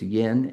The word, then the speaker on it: yin: And we we People often refer to this as yin and yang, but that's not how you pronounce it. It's yin and yang.